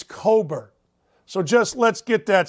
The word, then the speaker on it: Cockburn: behemoths one kofi coburn i don't care that it's spelled like cockburn it's cobert so just let's get